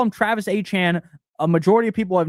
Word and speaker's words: Etienne: His last name is not pronounced Etienne, it's pronounced A-Chan.